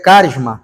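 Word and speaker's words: χάρισμα: Mas se fosse falar em grego, o ch tem som de k, então ficaria carisma, tá?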